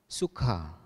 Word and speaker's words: sukha: Sukha, tulisannya S-U-K-H-A, artinya kebahagiaan. Lalu ada kata yang mirip, S-U-K-A, dibaca suka, artinya burung kakak tua.